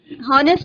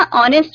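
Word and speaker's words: honest: हाँ एन ऑनेस्ट मैन, हॉनेस्ट नहीं बोलेंगे बेटा, ऑनेस्ट बोलेंगे, एच साइलेंट रहता है।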